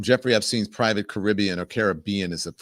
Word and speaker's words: Caribbean: Andy, I don't know if you have some of the videos from Jeffrey Epstein's private Caribbean or Caribbean is the correct pronunciation.